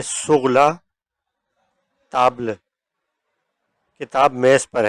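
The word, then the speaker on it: sous: मिसाल के तौर पर लु लीव ए सुगला ताबल किताब मेज़ पर है। तीसरा लफज़ है सु इसमें भी एस साइलेंट है।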